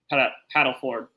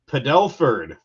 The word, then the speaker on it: Padelford: what I saw from Paddleford today. Padelford, sir. Padelford. I was trying to. I saw that tweet. Saying it wrong.